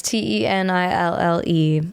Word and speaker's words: Tenille: So 1 N, 2 L's. Yeah. Wait, every time someone says something like that, it confuses me so bad. 1 N. So it's like Captain and Tenille. Yeah. Is it spelled the same way? It's not. Oh, shoot. I know. It's Tenille.